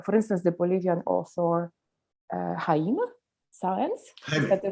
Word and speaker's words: Jaime Sáenz: He has translated mostly Mexican women poets, including Coral Bracho, but also, for instance, the Bolivian author Jaime Sáenz, is that the right pronunciation?